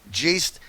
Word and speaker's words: Geist: That is Mark Geist. Hey, Mark, great to have you with us. Am I saying your name right, Mark? It's pronounced Geist, kind of like poltergeist.